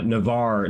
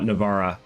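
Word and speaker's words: Navarre: Uh, Navar, not Navara. Oh, Navar, not Navara. Um, why have I always called it Navara? How is it pronounced in Spanish? That's the question I have. But it's Navar.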